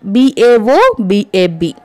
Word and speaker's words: baobab: This is nothing but baobab. B-A-O-B-A-B. You pronounce it as baobab tree.